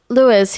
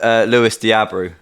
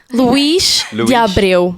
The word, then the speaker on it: Luís de Abreu: Actually, his name is Luís de Abreu, but yes. I've never said it that way. His name is Luís. How do you say it? I say it Luís de Abreu.